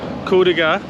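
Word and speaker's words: Kuldīga: So you can tell Kuldiga, that's how you pronounce it, is a very small, easily walkable place.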